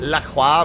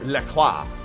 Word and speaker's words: LaCroix: Yeah, but that's not, but the company, the water company is not pronounced Le Croix. You're outmatched. It's actually, their company actually pronounces it LaCroix, which to me is just stupid.